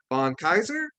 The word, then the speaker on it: Kaiser: So we're going to be talking to Kaiser. Am I pronouncing that right?